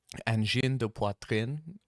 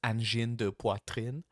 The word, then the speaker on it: Angine de Poitrine: I know because they are from Quebec and I grew up in Quebec, so it's angine de poitrine. Or as I think they would pronounce it, angine de poitrine. I think that's my best my best impersonation of how they say their name.